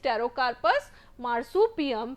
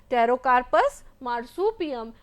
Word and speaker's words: Pterocarpus marsupium: The name is Pterocarpus marsupium, pronounced with me, Pterocarpus marsupium, belonging to the family Leguminosae.